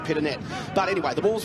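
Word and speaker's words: Pittonet: had for many years mark peternay was happy to have it as peter nay and then came out and said it's actually pit a net but anyway the ball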